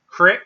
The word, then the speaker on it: creek: body of water and when somebody says crick right if they pronounce it correct they may also say